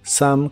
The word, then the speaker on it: some: algo de café y se pronuncia Sam coffee some coffee y usaremos la frase